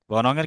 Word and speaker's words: বনং: তাহলে এজন্য উচ্চারণের সময় সবসময় আমরা ম এর মত উচ্চারণ করব। কিন্তু লেখার সময় আমাদেরকে যেন ঠিক রেখেই আমরা যেন লিখি। মানে কি? তাহলে আমরা উচ্চারণের সময় কি বলব? বনম বনং এর ক্ষেত্রে বনমংের ক্ষেত্রেও যেমন বনম উচ্চারণ হবে।